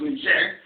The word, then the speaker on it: Niger: You also have Niger Republic, which is French pronounced Niger, we know it's Niger.